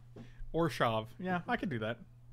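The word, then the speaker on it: Orzhov: Keebler says we need to pronounce it Orshav. Orshav.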